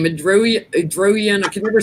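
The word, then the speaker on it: Erdoğan: Erdogan. I can never say his name. The Turkish president. He's coming into the Erdogan. Erdogan.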